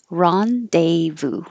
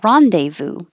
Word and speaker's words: rendezvous: started with Rendezvous and it's a word from French so it definitely doesn't sound the way that it looks we don't say this Z or the S Ron de Vu Rendezvous and it means meet